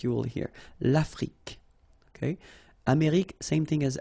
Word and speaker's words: Afrique: Same thing here. Final it's only the k at the end that you will hear. L'Afrique.